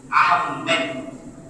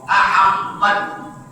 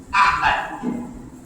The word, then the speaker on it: আহমদ: আপনি এখন ডাবল ম আহমদ এটাকে উচ্চারণ লিখে থাকেন, এটাকে শুদ্ধ করুন। নবীজির নাম বিকৃত করার কোনো অধিকার উম্মতের নাই, বরং উম্মতের দায়িত্ব নবীজির সবকিছু হেফাজত করা। আহমদ, আহমেদ নয়, আহমদ।